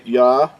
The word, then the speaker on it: Yahuah: This is the accurate way, Yahuah.